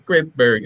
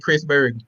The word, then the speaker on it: Christburg: every time I said Chrisberg? No. Many people often um mispronounce it, but I'm okay with it. But just think about God and Christ.